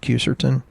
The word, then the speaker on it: quercetin: And then there's this thing called quercetin. Some people pronounce it quercetin.